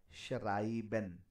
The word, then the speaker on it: schreiben: For example, schreiben, reisen, Kreise, Kreise, always I sound.